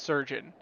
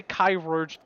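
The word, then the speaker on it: chirurgeon: that word is pronounced surgeon that is just an old school spelling of the word surgeon we spell surgeon today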